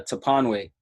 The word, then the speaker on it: Toponwey: close is Toponwey.